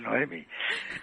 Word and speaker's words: Noemi: No, pero ahora ya no es Noemí, es Noemi.